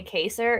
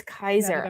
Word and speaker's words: Kaiser: don't know why I want to say caser it's Kaiser I always want to